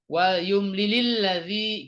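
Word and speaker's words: وَلْيُمْلِلِ الَّذِي: Nah, ini wal yumlil karena bacanya mau disambung dengan allazi jadi wal yumlilil ladzi gitu ya.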